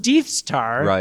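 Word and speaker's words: Deth's Tar: then you've also got it's spelled D E TS star which is pronounced de star because as you mentioned earlier but clearly you'll see it in think death star from Star Wars I don't know what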